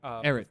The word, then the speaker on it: Ehret: And it was fever, aches, pains, everything that, I'm going to pronounce his name wrong again. Dr. Bishy? No, Ahart. Oh, Dr. Ehret.